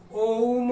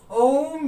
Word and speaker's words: ओम: इसका मतलब ये हुआ कि ओम का उच्चारण इतनी देर करो 3 बार तक करो, इसीलिए हम ओम को मानते।